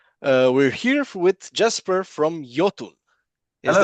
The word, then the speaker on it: Iotunn: There's a lot of Americans who say Iotunn, All but right. yeah, I think the best way is Jotun.